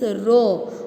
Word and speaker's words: rho: The symbol for the density is rho. What is the pronunciation? RHO. Rho.